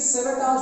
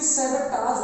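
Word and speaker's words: sabotage: देते हैं, कई बार इसको सेवोटेज बोल देते हैं, ओके। तो ये सेवेटाज होता है, सेव, यानी कि ओ का साउंड यहाँ पर हम प्रोनाउंस करेंगे, सेवेटाज, नॉट ए, सेवेटाज, ओके।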